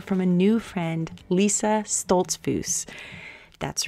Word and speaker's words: Stoltzfus: This week, you get to hear from a new friend, Lisa Stoltzfus. That's right, I just learned to pronounce her name properly.